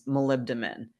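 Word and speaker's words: molybdenum: And that was malibdamin. And you spell that m o l y b d e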